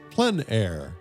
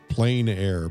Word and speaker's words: plein air: The French pronounce it plein air. Others pronounce it plein air.